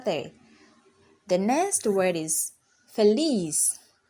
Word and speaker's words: feliz: the next word is feliz feliz feliz has two syllables F and it ends with a consonant the alphabet seta or Z in English and so the stress falls on the Le Fair